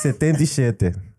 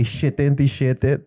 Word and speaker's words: setentisiete: Setentisiete. Setentisiete. You say siete No, it's like so kids often say shitentisiete to kind of separate it from sesentisiete, which is 67.